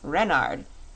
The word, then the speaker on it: Renard: Renard with the accent on the Ren.